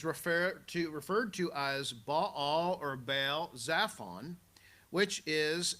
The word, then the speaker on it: Baal: week with the question who is Baal Bal or Bale you'll sometimes hear it pronounced and this is the